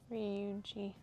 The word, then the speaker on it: Ryuji: Oh, Ryuji, that would make more sense. So, instead the Yeah. So the Y is more silent.